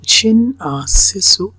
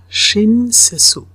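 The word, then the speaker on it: 親切: সো শব্দটা হচ্ছে এরকম শিন সেসু, শিন সেসু, শিন সেসু, সেজু, TSU, মানে এটার উচ্চারণটা TSU।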